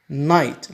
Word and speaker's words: night: هكذا night لاحظ GH لا تنطق فنقول good night.